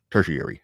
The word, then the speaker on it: tertiary: very secondary or tertiary tertiary that three word that rhyme with the airy at the end tertiary i think yeah but